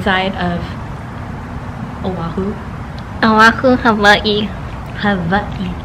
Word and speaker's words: Hawaii: Hawaii. The W is pronounced as a V.